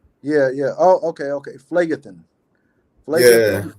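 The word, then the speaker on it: Phlegethon: Phlegathon. Could that be it? Phlegathon. Phleg, it's like because it's Greek, so it's PH is an F. Yeah. Oh, okay. Phlegathon.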